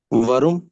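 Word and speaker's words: warum: वरुम।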